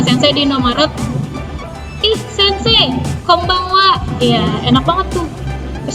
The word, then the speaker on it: こんばんは: Konbanwa. Tulisannya konbanwa, bacanya konbanwa. Gitu ya.